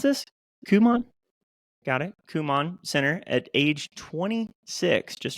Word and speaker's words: Kumon: businesses, including opening her first, how do we pronounce this? Kumon? Got it. Kumon Center at age 26, just 26.